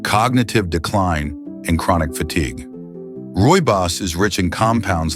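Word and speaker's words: rooibos: Roy Boss, pronounced Roy Boss, tea, comes from a shrub native to South Africa.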